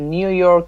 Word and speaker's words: New York: My grandfather migrated to New York from Italy in 1919. New York. New the York. Stress is on York.